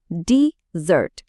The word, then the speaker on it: desert: জোরটা এখন দ্বিতীয় অংশে।